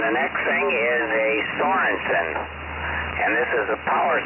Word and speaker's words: Sorensen: Yeah, now is that made by Thorgerson? No, I pronounce it Sorensen, S-O-R-E-N-S-E-N.